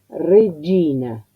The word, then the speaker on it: regina: Y no es doble. Ya sé que uno le pone tanto énfasis, tanta preocupación para que se pronuncie bien, que muchos van a hacer algo Regina, como destacando. No. Piensen que para el italiano es un sonido natural. Regina, Gina, como los que se llaman Gino, Giorgio, es un sonido un fonema natural, un sonido natural para el italiano.